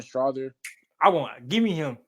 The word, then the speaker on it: Strawther: I want to say it's like Strouder. Oh, Julian Strawther.